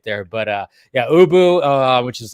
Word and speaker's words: Ubu: dude next to him, Abu, I think his name was, Ubu. right? Boo Boo. Okay. No, not Boo Boo. Ubu. Ubu. Ubu. Ubu. That's right.